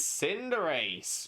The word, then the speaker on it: Cinderace: names of Pokemon, and someone was trying to argue that Cinderace isn't pronounced Cinderace. It's pronounced Cinderace, as in Cinder and Liberace because of Libero, not realizing that it's Cinder Ace because Cinder as fire and Ace like a sports ace.